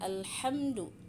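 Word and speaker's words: الحمد لله: Untuk ha, cara membacanya adalah 'al' harus jelas. Tapi ingat, jangan dipantulkan. Sebagian orang masih memantulkannya. Itulah catatan terpenting. Huruf alif lam tidak boleh dibaca, jangan memantulkan huruf alif lam. Maksud saya, cara membacanya harus jelas. Alham, bukan al, bukan. Tapi alhamdulillah, ya.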